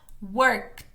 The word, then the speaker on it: worked: pintado de verde y eso es porque suena como una T T entonces work en pasado sería worked worked pronunci la k y seguido de la k la t eso es importante porque no tenemos tantas palabras en español que tengan esas dos consonantes juntas y es lo que